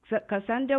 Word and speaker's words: Kissondra: lives of women today our guest today is candra am I pronouncing your name right yes Cassandra on this episode we look at her